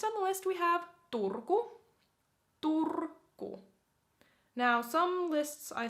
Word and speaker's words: Turku: Next on the list we have Turku. Turku. Now, some lists I saw that Oulu was in front of Turku, but this has Turku first, so I guess the ordering doesn't matter that much. Turku.